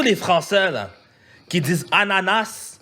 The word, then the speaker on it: ananas: précisément à sa finale, l'exacte prononciation du mot ananas et ananas sans S, on ne prononce pas le S, donc c'est ananas.